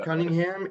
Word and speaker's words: Cunningham: mr i i hope i don't say cunningham am i correct yeah that's correct you pronounced cunningham and stuart uh stuart what's your last name